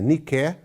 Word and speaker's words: Nike: Nike, a pronúncia é Nike, que é uma expressão grega que significa vitória.